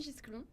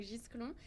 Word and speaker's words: Gisclon: Moi c'est Gisclon, donc on prononce le S et le C, donc Gisclon.